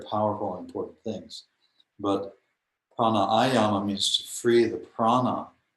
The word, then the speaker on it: pranayama: And so there's this funny mispronunciation of pranayama, and they say pranayama. So prana or pran is prana, and yama means to kill or to hold down, to control. And the actual word is pranayama.